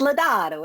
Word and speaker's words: Ledato: was telling she asked how to pronounce my name my last name and I said it's ledato it's Italiano I'm not Italian my